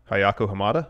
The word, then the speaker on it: Ayako Hamada: And according to Pro Wrestling Insider, during Good the job match, on the pronunciation of what did you just say? Hayako Hamada, Oh, good job.